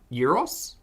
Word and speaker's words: gyros: Gyro or euro. Gyro. Euro. Yeah, the G is a Y.